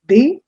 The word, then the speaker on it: des: Which is why in French for this d e s that's pronounced as they there is no equivalent